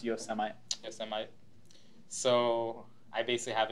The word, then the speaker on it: Yosemite: Plus, when I upgrade to Mavericks and Yosemite, I don't have to worry about that. So anyway, it's pronounced Yosemite.